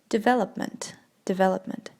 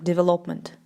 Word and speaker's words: development: Development. Почему-то многие люди произносят это слово как development. Это неправильно, да? Development. На V, да, на второй слог падает.